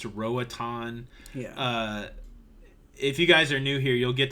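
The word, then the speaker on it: Roatán: funny Ronnie Gilbert I know that Roatan is pronounced Rohit on yeah if you guys are new here you'll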